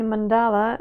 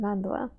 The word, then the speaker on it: mandala: word in Russian uh saying mandala is not exactly comfortable for me so I chose to say it Mandela um it's just for people who who are concerned about the pronunciation so um that's probably